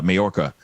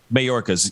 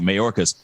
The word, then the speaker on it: Mayorkas: and i see the press briefing with uh majorca um hopefully i'm pronouncing his last name but anyway uh right marcus mayorkas yes thank you mayorkas so he's talking about this and i just